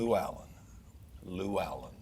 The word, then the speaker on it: Lewallen: GUEST: AT A MY NAME IS LOU ALLEN.